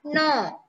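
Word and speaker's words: know: Fifth one no. K is the silent letter.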